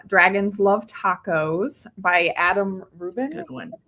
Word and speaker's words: Rubin: house right now, Dragons Love Tacos by Adam Rubin. Good one. That's how you pronounce his last name.